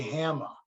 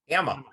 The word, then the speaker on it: Hama: bubbles Or to quote Mike last week, Larry Hama. Hammer. That's the Schomburg pronunciation. It's the hammer time. Hama.